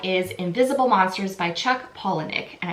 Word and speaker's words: Palahniuk: And I feel like I'm finally saying his name right because I've butchered his name in every other video I've done. Someone pointed out to me that it's Palahniuk, and I hope I'm still saying it right. I might still be saying it wrong.